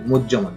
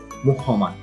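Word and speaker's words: মুহ্যমান: সঠিক উচ্চারণ হচ্ছে মুজ্জমান। অনেকেই এটা উচ্চারণ করে মুহমান, কিন্তু আসলে সঠিক উচ্চারণ হচ্ছে মুজ্জমান।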